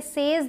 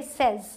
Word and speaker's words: says: ठीक है, अगला है SAYS, ये मैंने आपको लेसन 1 में भी बताया, इसे सेज नहीं बोलेंगे, सेज। ठीक है, जल्दी से बोलना है, सेज।